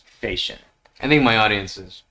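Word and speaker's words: Fechin: his last name is spelled f-e-c-h-i-n and it's pronounced facial i think my audience is probably i i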